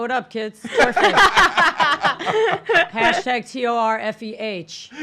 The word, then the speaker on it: Torfeh: Hashtag TORFEH. Pronounced Fey, not Pho.